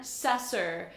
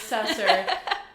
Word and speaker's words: Sesser: we have how do you say your last name sasser sessor i'm obsessey with sessor i'm so glad you're